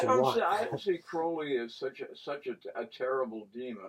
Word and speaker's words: Crowley: name gets mispronounced as Crowley. And it should be Crowley, because he changed it from Crowley to Crowley because he wanted his name to rhyme with holy and not with folly.